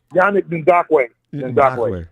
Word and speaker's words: Yannick Ngakoue: How do you pronounce his name? The other defensive end. Yannick Ngakoue.